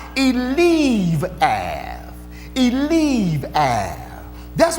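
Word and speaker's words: Eliab: verse 28 this oldest brother his name is pronounced he leave as he leave ah that's what his name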